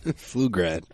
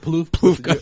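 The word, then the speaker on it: Pflugrad: What's her name? Flugrad. What did I say? You said Ploof. You pronounced it That was with the P.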